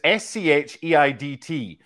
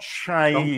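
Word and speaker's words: Scheidt: And it's Shaidt. The pronunciation in Glasgow, Tim, was not shy, because I tried to commentate on him.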